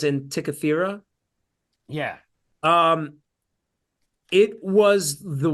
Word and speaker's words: Antikythera: And this, did you know that the object that they're after, I think it's pronounced Antikythera, Yeah.